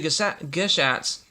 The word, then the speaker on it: Gashat: later down the road, they're actually Geshats. It's spelled Gashat.